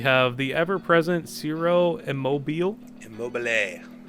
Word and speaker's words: Immobile: Immobile. It's the Italian, man. You gotta really pronounce the E. You know, Immobile.